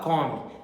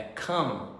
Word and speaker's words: come: Não pode falar come, é come.